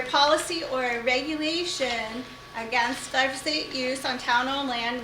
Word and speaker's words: glyphosate: It's glyphosate.